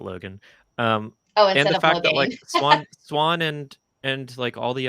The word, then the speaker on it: Logain: I know you pronounce it Logan.